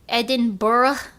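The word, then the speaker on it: Edinburgh: It's more like Eden Bur.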